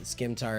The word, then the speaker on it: scimitar: then he drops his scimitar as well, and then he takes He drops his what? Sorry? scimitar. Scimitar. Yeah, scimitar. Sorry, scimitar. The C is silent.